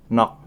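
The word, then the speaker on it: 넋: Ini dibacanya gioknya nok, bukan not ya, tapi nok.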